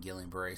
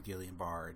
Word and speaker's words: Guillain-Barré: more than likely in Guillain-Barré syndrome, or Guillain-Barré, depending on how you want to pronounce it.